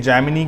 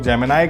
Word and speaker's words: Gemini: ठीक है, जेमिनी करते हैं कुछ लोग जेमिनाई करते हैं, तो आप जो प्रोनाउंस करते हैं वो यहाँ पे लिखेंगे GEMINI और जस्ट एंटर बटन दबा देंगे।